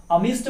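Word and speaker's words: amidst: तीसरा लाइन क्या कहता है, लेट नॉट the battle cry राइज्ड अमिस्ट many slain, अमिस्ट D silent है, इसको अमिस्ट बोला गया है।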